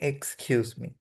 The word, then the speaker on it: excuse me: এক্সকিউজ মি, উচ্চারণটা হবে এক্সকিউজ মি, ওকে।